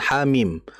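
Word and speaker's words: حم: Maka kalau kita baca surah al-ahqaf misalkan ha mim. H-nya berapa harakat? Hanya dua. Dua.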